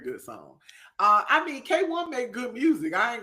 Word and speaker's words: KWN: Uh, Do What I Say by K1. Even though it's spelled KWN and I want to say Queen, that's not how you say it.